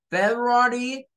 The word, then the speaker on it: February: O sea, son 4 sílabas. February, February, con la R. Los norteamericanos hacen un cambio y en vez de pronunciar esta de en medio con ru, la pronuncian con you.